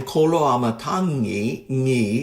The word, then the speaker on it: Koloamatangi: I don't really know what he knows from the other languages, but his last name, Koloamatangi, has the last syllable of his name, as he pronounces it, is that sound.